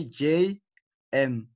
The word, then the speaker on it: JM: So this is not Jim. It's not Jim. Is JM, okay? So you again remember with initialism, each letter is pronounced separately. So this is J is pronounced separately, this is M is also pronounced Separately, okay.